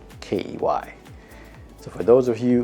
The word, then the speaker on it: Quay: was clark key and it's spelled q-u-a-y but it's pronounced k-e-y so for those of you who want to say cloud quay it's not quay it's